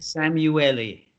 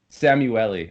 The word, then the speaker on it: Szamuely: I'm well correct you Willie how do I pronounce it correctly Sam you a li Sam you le okay thank you that's something I meant to